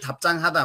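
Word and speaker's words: 답장하다: थाप्जाङ भए पनि उच्चारण चाहिँ थाप्चाङ हादा थाप्चाङ हादा भनेर भन्नुपर्दछ है, थाप्चाङ हादा।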